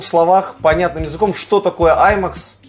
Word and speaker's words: IMAX: Совершенно верно, именно IMAX. И настаиваю именно на этом ударении.